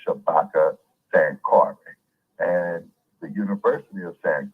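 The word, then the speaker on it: Shabaka Sankore: n k o r e the name is pronounced Shabaka San Cary and the University of San Cary okay which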